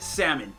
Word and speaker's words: salmon: just I don't know you pronounce it salmon not Sam